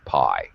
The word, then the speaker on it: pi: p but in english we pronounce this as pi right okay uh as in the famous movie life of pi okay uh as in